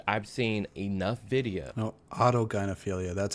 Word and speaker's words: autogynephilia: No, autogynephilia, that's how it's pronounced.